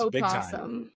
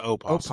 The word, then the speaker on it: opossum: Is it a possum or an That's opossum? It's an opossum.